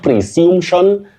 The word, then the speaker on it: presumption: But now the noun form, you say presumption. Presumption. Not presumption, not presumption. Don't say such kind of or use such kind of pronunciations. You say presumption. Presumption. That is the way to go.